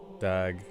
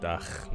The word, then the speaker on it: dag: A Tiersdag, Dag, not Dach.